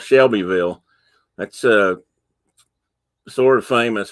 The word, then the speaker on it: Shelbyville: the country and it's shelbyville but they pronounce it shovel it's a tennessee thing i guess okay it's oviedo i